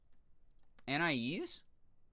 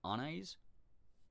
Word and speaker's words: Anais: Anais? The way they say it in Gumball is correct for some people, but also can be said as the first syllable like Anais. Anais?